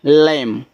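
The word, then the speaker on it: lamb: एल ए एम बी लम।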